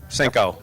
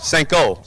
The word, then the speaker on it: Senko: Senko. Senko, yeah. Okay. I've been mispronouncing it or saying it both ways all weekend long with You're the good. whole Senko family. I thought it was a hard O, but congratulations on your win in Super Street.